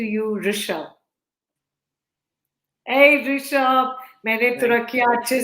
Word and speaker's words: Turakhia: इट is Rishabh तुरखिया.